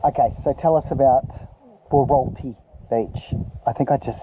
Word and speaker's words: Wauraltee: Okay, so tell us about Wauraltee Beach. I think I just said it right for the first time. Wauraltee.